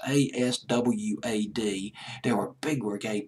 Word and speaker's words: Aswad: I might be mispronouncing the name of the group. It's Aswad.